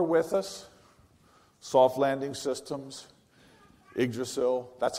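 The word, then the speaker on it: Yggdrasil: are no longer with us soft landing systems iggrasil that's how you say it by the way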